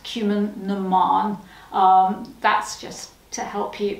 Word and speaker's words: Cumann na mBan: It's pronounced Cumann na mBan.